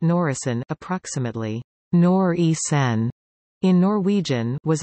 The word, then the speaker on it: Norisén: Norwegian Independent Company 1 (NOR.I.C.1, pronounced Norisén (approx.